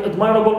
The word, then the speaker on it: admirable: stem normally is stressed, but in admirable we stress am, so we have shift of stress, okay, in admirable, although it contains a ball which is normally neutral.